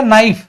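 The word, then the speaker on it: knife: है एक बात बताओ क्या आप इसको कना बोलते हैं कना इसको क्या बोलते हो कना फिर या नाइफ नाइफ केस साइलेंट होता है तो याद रखना बेटा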